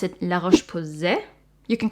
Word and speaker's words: La Roche-Posay: So I guess you would pronounce it La Roche-Posay.